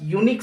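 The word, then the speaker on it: unique: इट वॉज यूनिक site, देखिए यहाँ vowel है बट इसका प्रोनाउंस देखिए यूनिक, यूनिक कैसे लिखाएगा आपका हिंदी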